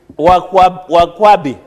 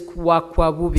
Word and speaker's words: Wakwabubi: Point of order, Wakwabubi. Wakwabi. It's Wakwabubi. Wakwakubi. As one of our... Say it correctly, it is Wakwabubi.